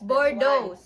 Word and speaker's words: Boudreau: pie Bose walang n It's hard to pronounce bordo how how do you pronounce your last name in French It's but in English It's and I'm My sister